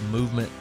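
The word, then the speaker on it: MVMT: tell you guys about movement watches it's MV MT pronounced movement now movement was founded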